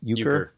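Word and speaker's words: euchre: That would happen often in Ukra. Do you guys know how to pronounce that? Uker. Uker. Okay.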